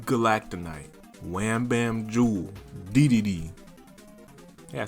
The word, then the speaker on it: Dedede: We beat Galacta Knight, Wham Bam Jewel, Dedede.